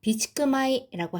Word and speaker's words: 備蓄米: 자, 비추크마이라고 하면은 비축미입니다.요 쌀미자는 요렇게 단독으로 읽으면 코메라고 읽어서 쌀인데요.